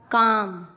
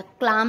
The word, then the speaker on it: calm: एम से पहले CALM काम, बाम, पाम। एल साइलेंट होता है, क्लाम नहीं, काम, बाम, पाम।